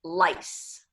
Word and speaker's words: lice: O sea, por ejemplo, en inglés, piojo es lice. Es pronunciación S, sonido de S. Pero mentiras en plural es lies. Entonces se afectó que alargamos el sonido de esa vocal, que es I, y el sonido de S y Z se intercambió.